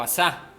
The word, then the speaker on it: Asá: un rey de israel llamado asá o asar con un acento en la al final este hombre fue un